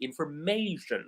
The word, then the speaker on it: information: So, information, you will say, notice that I put more stress on may, information, right?